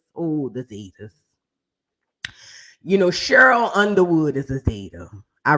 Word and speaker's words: Cheryl: that part too see I just learned the word cherl we don't have no cherls in New Orleans it's Cheryl okay Cheryl Cheryl all